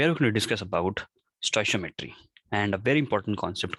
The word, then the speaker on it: stoichiometry: how to do them stoichiometry how do we pronounce it stoichiometry the topic is stoichiometric calculations so here we